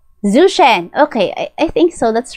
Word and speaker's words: Zhou Shen: So just correct me if I'm wrong ha, but I pronounce his name as Zuchen.